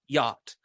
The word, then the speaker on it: yacht: say ye and they self-correct and they a yacht what is happening there and and what ingredients